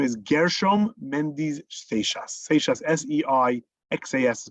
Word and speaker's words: Seixas: Seixas, S-E-I-X-A-S is pronounced Seixas.